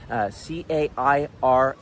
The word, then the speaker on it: Cairns: Only 160,000 people live in Cairns, C-A-I-R-N-S. And they say Cairns. Just gotta see if I can pronounce it the correct way.